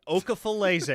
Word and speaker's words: Okafalise: But Okafalise is how you say the name.